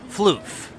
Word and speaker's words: floof: me see that fluff floof actually rhymes with roof yep recorded underground and